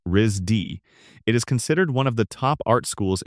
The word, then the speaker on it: RISD: Known informally as RISD, pronounced RZ D, it is considered one